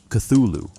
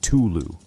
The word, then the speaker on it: Cthulhu: Lovecraft himself offered contradictory guidance on how to say Cthulhu, at various points suggesting approximations like Cthulhu and Tulu, while insisting that the actual name could not be reproduced by human vocal anatomy.